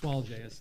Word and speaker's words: Swalje: She actually, yes, Swalje is how it's pronounced.